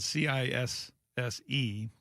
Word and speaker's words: Cisse: It's spelled c i s s e, but it's pronounced Cisse.